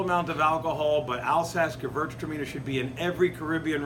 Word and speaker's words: Gewürztraminer: This is a hard grape to say, but probably my favorite, one of my favorite, is Gewürztraminer. Gewürztraminer, that's W is pronounced with a V. Gewürztraminer.